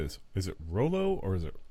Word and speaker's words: Rollo: I'd say Rollo. Rollo, yeah. Not YOLO. Rollo. Like the Rollos, like the candy. I was just thinking of the candy. I was like, but that's not how it's spelled. It's ROLO for Rollo. Yeah. And this is ROLLO.